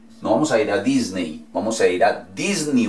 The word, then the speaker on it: Disney: Lo mismo si vamos a ir a Disney. No vamos a ir a Disney, vamos a ir a Disney World. Disney World. Disney.